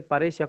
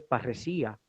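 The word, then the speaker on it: παρρησία: Por lo tanto, por ejemplo, aparece paresia como grave, pero en griego es parresía.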